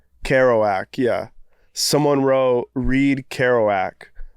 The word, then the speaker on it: Kerouac: Kerouac? The guy, how do you say his name? Kerouac, yeah.